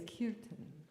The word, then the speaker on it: kirtan: Kirtan or kirtan, but really it's kirtan. It's a Sanskrit word, and it's a word, language of vibration. So the way you pronounce it is important.